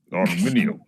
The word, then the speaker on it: Arminio: I think we should get some glottals in Arminio. Arminio, yes.